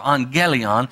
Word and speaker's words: angelion: So the word angelion comes from the word for angel, angelos, and that's kind of a hard G instead of angel. It's angelos or angelion.